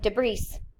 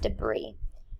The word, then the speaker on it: debris: So if you look at the way debris is spelled, it looks like debris, but it's actually pronounced debris.